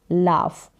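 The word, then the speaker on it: laugh: क्या है लाफ हंसना उच्चारण देख सकते हैं जी एच का यहां पर फ करके उच्चारण हो रहा है तो कहीं पर जो जी एच होगा साइलेंट रहे लेकिन यहां पर जी एच का उच्चारण फ करके हो रहा है लाफ फिर है वीप वीप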